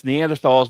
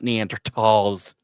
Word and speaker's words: Neanderthals: It's Neanderthalss because that's how we were taught. We were taught the proper way, not Neandertos. Has an H in it. I'm pronouncing the H.